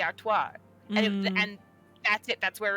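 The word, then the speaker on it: Artoirel: Because, like, there wouldn't necessarily, to my knowledge, be an L at the end. It would be Artois.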